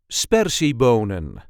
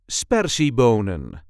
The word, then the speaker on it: sperziebonen: see how to pronounce spery bonan or in English green beans. This is the way we say spery bonan. Spery bonan. There is a light emphasis on the first syllable.